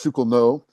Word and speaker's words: Chucklenut: It's spelled Professor Charles Chucklenut, but it's pronounced Professor Charles Schukelno, and he's very, he